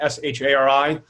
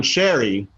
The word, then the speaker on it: Shari: up on it uh technically it's pronounced shari but sherry works as well sherry sorry okay that's